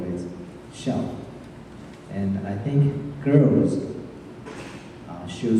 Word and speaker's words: xiao: There's a special term for us in Chinese which is called xiao. Maybe you can spell that as S-H-I-A-O in China pronunciation.